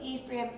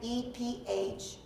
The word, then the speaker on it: Ephraim: So Ephraim, E-P-H-R-A-I-M. And actually it's Ephraim. But our English pronunciation is Ephraim, and that's what most people call it.